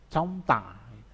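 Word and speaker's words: 젊다: Nah, tulisannya kan coromta itu. Jadi bacanya susah. Jadinya comta. Ya, jadi miem-nya yang dipakai.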